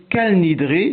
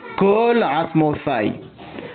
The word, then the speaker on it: כל: Certains disent cal nidré, d'autres col nidré mais tout le monde dit kalasmofaille.